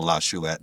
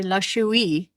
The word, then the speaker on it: La Chouette: I have no idea how you spell lachouette, but I do know how to say it and I'm proud of that. Yeah, cuz he used to say lachouie.